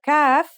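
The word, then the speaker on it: كاف: The calf is pronounced just like the English K.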